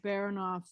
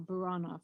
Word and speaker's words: Baranov: Are there useful documents anywhere, like in Russian archives, to provide a more realistic portrayal of Baranov, or have they been whitewashed too? Or Buranop, I mispronounced it.